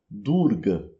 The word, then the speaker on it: Durga: Então, o nome dessa deusa pronunciado em rinde é durga. Durga. um a curto e fechado, invés de durar, um a longo e aberto.